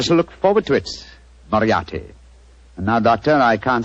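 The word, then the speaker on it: Moriarty: afraid I'll have to begin calling it the way it looks m o r i a r t y mariati mariati I shall remember that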